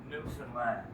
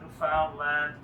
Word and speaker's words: Newfoundland: Newland blue star is a beer and it's pronounced Newland not New Foundland not New Finland New Finland is the oldest settlement in North